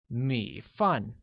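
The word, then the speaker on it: 米饭: Rice translates to 米饭, which has a falling rising tone on I and a falling tone on A, making it 米饭.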